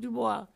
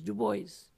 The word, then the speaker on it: Du Bois: The title of my text on Du Bois, by the way, it's not Du Bois, it's not French, Haitian. And so therefore, the pronunciation of the name is Du Bois, not a French pronunciation.